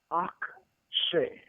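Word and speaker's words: אַקְשֶׁה: For instance, the verb in Exodus 7, verse 3 is akshay, akshay, akshay, which is spelled aleph with a patah underneath it.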